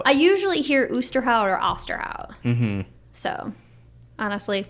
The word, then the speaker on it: Osterhout: you actually pronounce it is it is it oosterhout osterhout oster hoot auster hoot so it's actually oosterhout boosterhow yeah boosterhout free library that's that's the official name yes so the debate